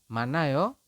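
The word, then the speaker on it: 많아요: Kemudian yang bawah pun sama, yang ini kita membacanya adalah manayo, bukan manayo, tapi manayo, seperti itu ya, teman-teman.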